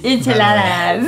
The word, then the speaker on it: enchiladas: It's enchiladas. Enchiladas. Not enchilada. I don't say it like that.